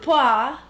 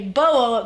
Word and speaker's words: BoA: from uh listening to a podcast it's actually pronounced poi uh yeah yeah because it's uh because